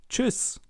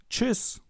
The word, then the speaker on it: Tschüss: And if you want to learn more on German pronunciation, check out my German pronunciation course. Let's listen and repeat. Tschüss. Tschüss.